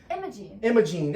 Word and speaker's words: Imogene: one emoji emoji emoji emojin yeah i couldn't pronounce it i know it's emerald gene or emoji imogene okay yeah that sounds right imogene it's i-m-o-g-e-n-e yeah energy imaging yeah so it's